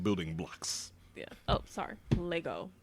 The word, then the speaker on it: Lego: Lego. Lego. There is no S.